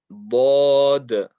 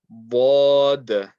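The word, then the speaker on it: ض: Bod, bod, bod. Side of the tongue touching the side of the top back teeth, the top molars.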